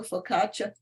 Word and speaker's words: focaccia: No, it's not a the focaccia. It's focaccia.